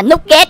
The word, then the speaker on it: Nugget: Nói chung là mình sẽ đọc là nút ghét nha anh em.